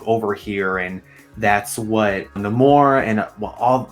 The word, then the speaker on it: Namor: I found out that it was not in the film Namor, it was Namor, or at least that's how he's going to pronounce it.